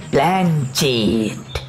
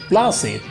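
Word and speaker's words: planchette: এর মধ্যে ওর থেকে পাঁঠার ঘুগনি চাটতে চাটতে ক্যাবলা এসে পড়েছে, বললে, আরে ভুল হলো, ওর উচ্চারণটা হবে প্লাসেট।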